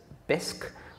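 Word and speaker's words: Bisq: One example is BISC, which is spelled B-I-S-Q.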